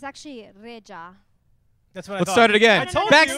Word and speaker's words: Rexha: re re it's actually Rea that's what I thought start it again backstage I told you it it's rexa but in in Albanian it's Rea re I told him that